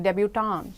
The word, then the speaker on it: debutante: They don't even pronounce the NNT, debutante, that's what they say.